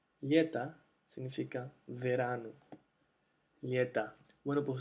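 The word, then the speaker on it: лето: todos los otros casos, cuando la o no está acentuada, se pronuncia a, aquí tenemos la e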